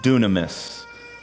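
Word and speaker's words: δύναμις: is a word in the Greek that is pronounced dunamis we've heard of that word dunamis right dunamis if if you're like why is he speaking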